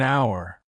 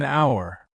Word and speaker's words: hour: be there in an hour teacher perfect you're using UNC correctly even though our starts with the letter H the H is silent so it actually begins with the vowel sound of that's why we